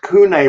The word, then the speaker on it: CUNE: their full name right it's like an acronym with all capital letters exactly though c-u-n-e c-u-n-e